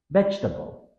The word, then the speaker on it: vegetable: pattern veg to B Learners often try to pronounce all four syllables V however us native speakers reduce it into three with the stress on the first common error vable tip think of it as vegetable skipping over the middle e sound six Wednesday here's the